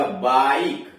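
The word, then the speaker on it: bike: बी वाई के ए, इसमें देखिए वाई बीच में आया, फिर व्यंजन के आया, उससे ई जुड़ा हुआ, बाइक।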